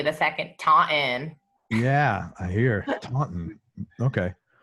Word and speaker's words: Taunton: I grew up in Taunton, Massachusetts. Spell that. Taunton. The T is silent, evidently. The second, Taunton.